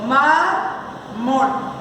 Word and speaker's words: mármol: Bueno, en este caso, grave o llana, mármol, si yo la voy a dividir en sílaba, yo digo mármol. Entonces, su sílaba tónica, por su mayor fuerza de pronunciación, ¿dónde es? Pues les voy a decir que es última, es la penúltima sílaba.